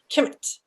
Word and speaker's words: Kemet: So it's pronounced Khemt. Khemt. See, you pronounce the T very strong.